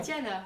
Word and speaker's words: Tiana: Parce que j'ai très mal prononcé là, non? Tiana.